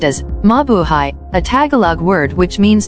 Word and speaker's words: Mabuhay: way of welcoming foreigners in the country mabuhay pronounced as mabuhay a tagalog word which means to live or